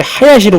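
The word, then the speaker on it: 林: 그리고 이제 선생님의 성이 이제 임시인데, 우리 이제 임시는 일본에도 이제 성이 있기 때문에 임시는 이제 하야시로 발음하죠.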